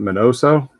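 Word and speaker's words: Miñoso: chico we got may my note is it minoso that's how you pronounce it all all right i'm gonna go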